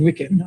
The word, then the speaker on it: Wiccan: So am I saying Wicca? I'm saying Wiccan. I'm pronouncing his name wrong, and I'm saying I love him as a character because I'm mixing up the religion with.